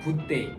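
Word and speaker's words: bouteille: 어, 발음도 요거 같은 경우에는 한국어로도 충분히 그냥 붓데이 어, 루데이요 정도로 발음을 해 주시면 됩니다.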